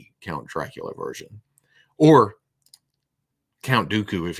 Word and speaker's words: Dracula: three heads isn't there yeah okay even matter duula there's nothing wrong count dookie Count Dracula it's pronounced Dracula I don't think Vincent PR has released yet